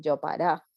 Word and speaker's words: Jopará: Y está, bueno, está este fenómeno del yopará, que le decimos nosotros. El yopará es una mezcla de guaraní y de español. Yo para. Ok. Yopará, sí, que se escribe en guaraní, es Jopará, Mm, Yopará, yo que para.